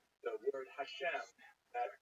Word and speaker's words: Hashem: And the word Hashem, of course, is pronounced with the letter H, but there is no letter H in the Russian alphabet. So in order to indicate that it should be pronounced as an H, they took the letter